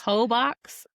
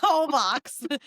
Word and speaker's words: Holbox: Hobox? Holbox. So Oh, maybe I'm I pronouncing that thought you wrong. said Hobox. Hoe box. That hoe box. No, whole box.